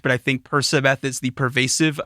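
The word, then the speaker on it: Percabeth: ship is called uh persibeth no sub it's persibeth and it's spelled p-e-r-c-a-b-e-t-h that makes sense yes and the pronunciation makes sense but i know my brain when i read it i see percobeth and i know this is i am told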